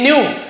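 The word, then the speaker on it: knew: ही न्यू वह जानता था, न्यू के साइलेंट है, के एन यदि एक साथ हो, नो, नाइफ, नी, नॉक नॉक, तो आप समझ जाइए के साइलेंट रहेगा, लिखेंगे जरूर ऐसे, न्यू नहीं पढ़ेंगे, न्यू पढ़ेंगे।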